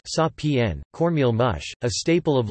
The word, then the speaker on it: Sapan: Salted salmon, an Inuit dish of brined salmon in a heavy concentration of salt water, left for months to soak up saltsapan, pronounced sa-p-n, cornmeal mush, a staple of Lenape cuisine.